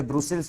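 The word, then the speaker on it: Brussels: और बेल्जियम की जो कैपिटल है वो है ब्रूसेल्स बी आर यू एस एस ई एलएस ठीक है बेल्जियम की कैपिटल क्या है?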